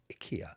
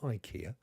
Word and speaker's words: IKEA: quirky furnishings from Ikea or Ikea as they pronounce it in its own country it's Sweden did you know that Ikea not Ikea we've all been saying it wrong routes to the banking